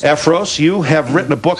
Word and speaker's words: Effros: Bill Effros, am I pronouncing? Effros. Effros, you have written a book, How to Sell Your Home in 5 Days.